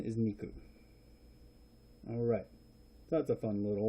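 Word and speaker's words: 肉: probably heard of zombies before anyway and the pronunciation is niku alright that's a fun little one Pleasant imagery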